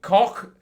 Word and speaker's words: Koch: And this is Koch. I'm told that is how it is pronounced.